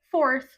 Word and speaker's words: fourth: Então o número 4 é four e quarto seria fourth. Inclusive, uma dúvida, né, que a maioria dos alunos tem é como que pronuncia esse bendito do TH. E basicamente, você coloca a língua no meio do dente e assopra assim.